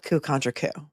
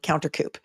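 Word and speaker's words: coup contrecoup: Including his mispronunciation of coup contra coup. And he called it counter coup.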